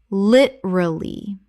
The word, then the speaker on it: literally: Literally. 3 syllables in natural speech. The second syllable almost disappears.